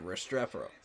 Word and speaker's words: Restrepo: So that's how you say his name, Restrepo.